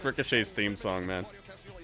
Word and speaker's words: Ricochet: Ricochet. I've never heard anybody say it like that. Ricochet. Like it has an A in the middle. Ricochet.